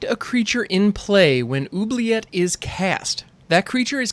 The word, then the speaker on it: Oubliette: All right, so the card that we're looking at today is Oubliette. And yes, that's how you pronounce that. It's Oubliette. Oubliette.